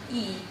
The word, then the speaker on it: Ys: So maybe East is actually pronounced E.